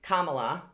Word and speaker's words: Kamala: on his heels was kamala which if you want to know how to say her name it's kama la um and she was